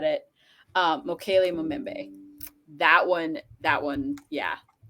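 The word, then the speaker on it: Mokele-mbembe: Mokele Mumembe. That one, yeah. You actually pronounced it perfectly, so don't.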